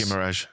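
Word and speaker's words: Guimarães: Guimaraes.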